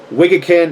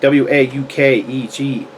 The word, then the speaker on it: Waukegan: And Waukegan, Illinois. I think it's how you say it. Waukegan.